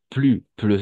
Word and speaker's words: plus: Entonces, por eso, como dice, plus un adjetivo, un adverbio, si está seguido de un adjetivo o de un adverbio, vamos a pronunciar plus sin la S. Plus.